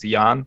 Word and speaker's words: Jan: And you can call me Jan because that's what most people call me, but it's actually pronounced Jan, but that's just a European thing, so you can ignore that.